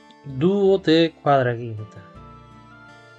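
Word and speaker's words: duodequadraginta: Vale, en latín 38 no se dice así, esto es incorrecto. Esto es incorrecto. No se dice 38. Se dice dúo de cuadraquinta. Dúo de cuadraquinta. Dúo de cuadraquinta. Esta sería la respuesta correcta.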